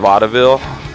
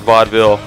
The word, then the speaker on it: Vaudeville: De Mo at the vaille uh what's is that how you say it right vaille edit that Ville Ville Ville we're playing at Vaudeville uh with slaughterhouse 6